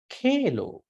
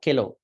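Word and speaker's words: kheḷo: Pittang, Semhang, Pubbu, Lohitang, Sedu, Medu, Asu, Vasa, Kelo. This H. Have to articulate the aspirate. Not Kelo, Kelo.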